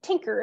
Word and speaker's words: tinker: It is called a tinker here in Newfoundland, which is a local pronunciation of thinker.